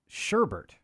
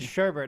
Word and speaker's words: sherbet: not bernstein bears but uh sherbert you know sherbert right there's no second r so you did know